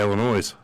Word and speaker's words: Illinois: Pronounces it the right way, Illinois.